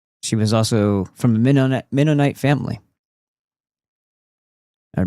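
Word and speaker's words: Mennonite: She was also from a minite family or Minino. People pronounce it all different ways. I like Menite.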